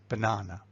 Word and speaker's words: banana: has three syllables, and one of them is stressed. And it's the second one, yeh? And then the word is, of course, banana.